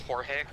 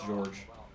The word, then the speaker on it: Jorge: should probably be pronounced Jorge yeah he is Hispanic um and it's pronounced and it's spelled you know j-o-r-g-e yeah it's spelled like Jorge but it's pronounced George one of the Traders